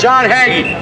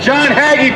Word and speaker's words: John Hagee: hagee false prophet we're calling him out yes john haggy john haggy pronounced promotes zionism he promotes zionism he says